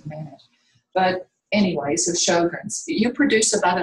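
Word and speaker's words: Sjögren: Okay, I thought I told you a fancy one, but it's called, and the way it's pronounced is show, like a Broadway show, Sjogren, but it's spelled S-J-O-G-R-E-N, Sjogren's, apostrophe S, Sjogren's.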